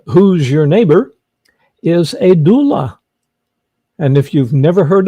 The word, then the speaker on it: doula: What the heck is a doula? Did I pronounce it right?